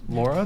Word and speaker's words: Laura: Laura, did I say it right? Yes. Is there an N? There's no N. You're No, not. there's You're not. not Lauren.